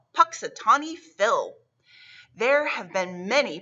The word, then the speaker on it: Punxsutawney: february 2nd would be called groundhog's day in punxsutawney the special groundhog is always called punxsutawney phil there have been many punxsutawney fills every